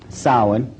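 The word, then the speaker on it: Samhain: as if it's saying Sam hayan or something like that no no no no this is properly pronounced in the ancient Gaelic as sa sin according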